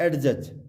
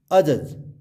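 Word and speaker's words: judge: Next अजज, नॉट एडजज, इट्स अजज।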